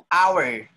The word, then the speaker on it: hour: What is this word? Hour, hour, hour, or an hour. Honest, honest, honest, honest. Do we say honest?